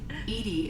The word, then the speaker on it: EDI: is a jar why are you named edie edie is the phonetic pronunciation of bdi that is an acronym for